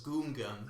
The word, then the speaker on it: Gungan: probably say things like how george lucas says goongan instead of gungan and he would probably